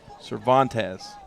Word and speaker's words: Cervantes: Cervantes. That's what the pronunciation. Cervantes. Cervantes. That's pronunciation.